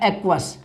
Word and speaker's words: aqueous: कि full form है एक्वस, AQUEOUS। इसको ऐसे पढ़ेंगे बच्चों, उच्चारण ऐसे होगा, इसका प्रोनाउंसिएशन इस तरह से होगा।